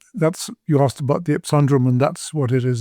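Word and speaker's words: ipsundrum: but nonetheless yes that's you asked about the epundrum and that's what it is that's how I pronounce it okay yeah cool and I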